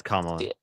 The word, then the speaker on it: Kamala: Uh, well Kamala I think that is that how you say her name? I don't want to miss Yeah, it's Kamla.